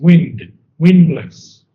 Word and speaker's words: windless: And you didn't really pronounce windless, windless. Windless. Okay. You pronounce the D in windless.